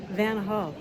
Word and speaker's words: Van Gogh: After the canal, I opted to go to the Van Gogh Museum, and I learned that in America, we pronounce it wrong. It is actually Van Gogh.